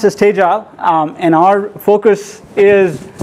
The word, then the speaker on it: Tegile: as I said we are U we are pronounced as stage Al um and our focus is essentially to help